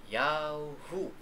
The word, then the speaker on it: Yahu: ng mga propeta, at ang tamang pagbigkas ng Ya doon ng YHW ay Yahu, Y-A-W-H-O-O.